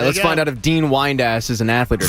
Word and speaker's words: Dean Windass: the name I'm going to give you is Dean Whiteass. Dean Whiteass. Are you pronounced? How is it spelled? Wood-ass or wide-ass? Windass. Dean Windass.